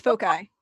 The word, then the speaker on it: foci: It's foci.